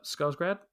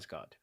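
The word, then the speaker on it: Skarsgård: He's portrayed obviously in the film by CGI and voiced by Bill uh Scarsgrad. How can I pronounce it that right? Scarsgard.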